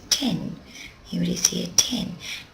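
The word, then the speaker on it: 店: It's pronounced using its on reading, that's its Chinese reading, and that's ten.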